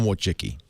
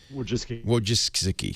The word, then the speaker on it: Wojcicki: Larry Page is married to the very talented, how do you pronounce her last name? Ann Wojcicki. Wojcicki, whatever.